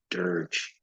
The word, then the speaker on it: dirge: That G is pronounced J, dirge.